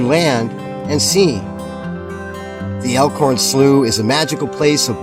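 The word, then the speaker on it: Slough: elorn SL I kept I kept referring to it as slow some guy said no no it's not it's not slow it's slooh why didn't they spell it s l e w so anyway we're at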